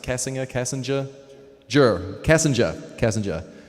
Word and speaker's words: Kassinger: casinga cassinger juror casinger kassinger without the r in my case at the end I guess uh Diane